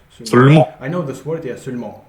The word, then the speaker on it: seulement: I know this word, yeah, seulement. Not seulement, but seulement. It's very strange, yeah.